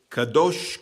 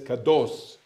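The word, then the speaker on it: קדוש: musical examples here the first one is called kadosh kadosh also it says caddos but we pronounce it Kadosh Kadosh means Holi and anybody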